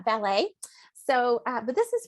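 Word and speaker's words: Wallet: danielle and i apologize i vote valet i think i said it's spelled w-a-l-l-e-t and i tend to read things as i see them but it's uh ballet so uh but this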